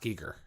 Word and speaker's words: Giger: it it's like H.R Giger you know meets stargazing it's it's pronounced Geiger it's so that is the way okay yeah he pronounced it that way and he's got like